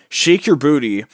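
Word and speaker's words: Sheik Yerbouti: Particularly, Shake Your Booty is my favorite overall so far, because Shake Your Booty, which is spelled not exactly as it sounds, it's spelled SHEIK space YERBOUTI, is an interesting beast,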